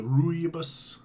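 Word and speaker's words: rooibos: within the scent and the aerobus is the ruibos that's how I pronounce it has kind of a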